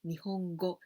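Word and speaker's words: 日本語: So we pronounce this is go, Nihongo.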